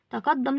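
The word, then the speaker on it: تقدّم: الدال هنا عليها شده لو احنا عارفين ان لما بنيجي ننطقها هنقول ت قد قد قد دم دم دم لو قطعنا الكلمه واحنا بننطقها تقدم هنا هننطق الدال مرتين طالما نطقنا الدال مرتين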